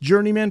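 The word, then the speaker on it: Jrnyman: and life it's out now through is it pronounced journeyman publishing because it's spelled j-r-n-y man yeah nerdy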